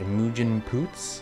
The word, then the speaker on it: Imogen Poots: Imogen Poots, I believe is how you say her name.